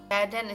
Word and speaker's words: Darden: Darden is how you say it, but this is a moisture boost plumping.